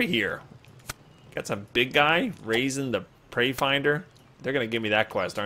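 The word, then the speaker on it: Razen: know his name is spelled cool R A Zen but his name is just raisin I mean he's like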